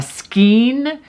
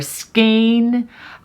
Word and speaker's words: skein: Some people call it a skein or skein, depending on what part of the country, what part of the world you live in. You might pronounce it a little bit differently, but I'm going to stick with my personal pronunciation I learned down in South Florida, a skein, spelled S-K-E-I-N.